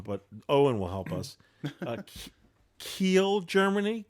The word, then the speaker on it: Kiel: I'm hoping I'm pronouncing this right where he's from, but Owen will help us. Kiel, Germany. Kiel.